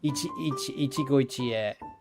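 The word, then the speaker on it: 一期一会: So it's like Ichigo Ichie.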